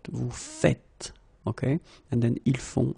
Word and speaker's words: faites: it like that, and it's not vous faisez, but vous faites, okay?